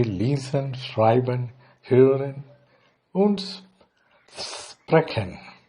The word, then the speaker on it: sprechen: In German we say lesen, schreiben, hören und sprechen. When you pronounce SP or SP, you say sh. So here the pronunciation for sprechen.